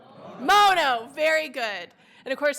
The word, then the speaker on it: Mono: work in this building aren't sure how you pronounce our county's name. So it is, say it with me, Mono. Mono, very good.